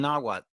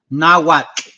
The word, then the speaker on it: Nahuatl: It says the name of their culture, hero Kukulkan or Quetzalcoatl, incorporates the word serpent, Maya, and Nahuatl.